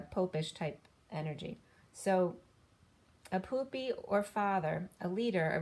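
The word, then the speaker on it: Pupi: Or I was getting poopy. Poopy is a Pope reference. So it's not spelled like poop. It's P-U-P-I.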